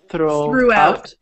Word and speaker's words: throughout: After cities, throughout. I'll type in how to pronounce it. Okay. Throughout. So the G and the H are silent.